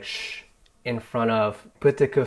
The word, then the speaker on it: je: Yeah, it's not like je anymore, it's sh. Ouais. Je prends un verre. And it's not a rule, it's just more of a tendency.